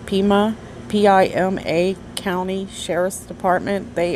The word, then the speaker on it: Pima: I'm going to try to pronounce this county. I'm terrible at this. I've never heard of these. It's Pima, P-I-M-A County Sheriff's Department.